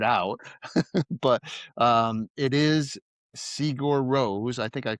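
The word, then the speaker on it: Sigur Rós: Um I didn't know how to pronounce it then. I've since tried to figure it out. But um it is Sigur Ros. I think I called it Sigur Ross or something.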